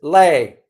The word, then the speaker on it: Lei: Uh his name is Lei, not Lee Le Chang.